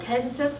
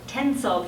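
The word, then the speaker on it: Tensas: Parish jail is called tenses Paris sorry tenso Paris Detention Center we don't pronounce s at the end that house currently about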